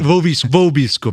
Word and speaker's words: vobiscum: Vobiscum, exactly. Where you say the V in classical Latin, it'd be more like vobiscum.